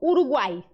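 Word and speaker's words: Uruguay: uma palavra, por exemplo, Uruguai, termina com Y. Uruguai. Aí tem som de I, tá vendo? Sempre. Você nunca vai falar Uruguai, Uruguai, Uruguai. Não existe, porque Y tá tendo som de vogal ali.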